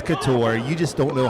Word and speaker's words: Couture: head of calvin couture he told me it's couture you just don't know how to how to pronounce words correctly that sounded more like